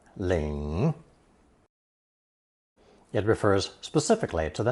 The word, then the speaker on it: 领: Pronounced third tone, Ling.